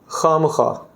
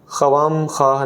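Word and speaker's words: خوامخواہ: इस्तेमाल करते हैं क्या खामखा खामखा खम खा नहीं पढ़ते खामखा पढ़ते हैं खा कोई भी खा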